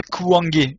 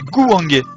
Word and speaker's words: Gouangé: Non, pas Kouangé, c'est Gouangé, c'est un G.